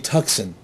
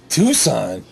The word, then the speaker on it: Tucson: it it's a Hyundai tuxen what the hell is a Hyundai tuxen I go do you mean Tucson she said Tucson is that how you say it I'm like yeah she goes what's a